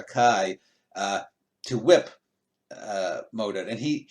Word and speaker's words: Kai: think is it Sir Kai, it's pronounced Kai, not K, but Sir Kai, to whip Modred, and